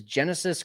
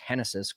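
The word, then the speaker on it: Génesis: So then really all you have left is Genesis Cabrera which I think is actually pronounced Hennessys Cabrera, Chris Flexon and Caleb Theelbar.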